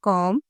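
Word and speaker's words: comb: आगे है कॉम। यहां भी हमने बी को साइलेंट किया।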